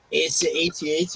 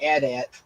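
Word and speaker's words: AT-AT: to build that AT&T atat yes you said it right not like these guys that say add at I just say AT&T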